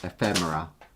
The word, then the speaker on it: ephemera: Ephemera. I'll say it right. Ephemera, which is we didn't know how to say until Krista was like, "You'd say it wrong."